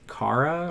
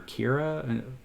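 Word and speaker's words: Karai: It's Kara or Kira. I'm going to say it's Kara because it's K-A-R-A-I.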